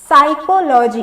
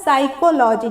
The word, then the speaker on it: psychology: देखिए कैसे साइलेंट है पी, क्योंकि इसका प्रोनाउंसिएशन हम लोग क्या पढ़ते हैं, साइकोलॉजी। इसका जो उच्चारण है वो क्या होता है, साइकोलॉजी, जिसमें पी साइलेंट हो जाता है और यहाँ से जो